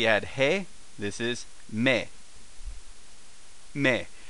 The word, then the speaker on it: め: hey this is me me uh thus pronounced as in May the month of May the very month of May in mate my best mate may Checkmate May uh so sounds like ma y uh the keyword just